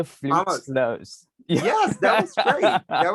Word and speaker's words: Hellevoetsluis: Hellevoetsluis. Hellevoetsluis. Hellevoetsluis. Almost. Hellevoetsluis.